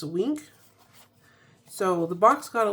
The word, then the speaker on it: Weenk: Uh, this one is called Magnolia and I believe that's pronounced wink.